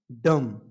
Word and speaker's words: dumb: डम। सिर्फ डम। बा का उच्चारण नहीं करना है, क्योंकि इसमें जो बी है वो लेटर, जो बी लेटर है उसको हम साइलेंट करके पढ़ेंगे। इसको पढ़ेंगे डम।